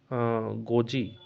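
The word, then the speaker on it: Ngozi Okonjo-Iweala: world trade organisation WT হলে আপনারা কই পারিবে গোজি গোজি ওকনজ আইওয়েলা ওকে এটিকে অখারোয়া না গোজি যেহেতু এন সাইলেন্ট হইবো গোজি ওকো জি ও গো বলি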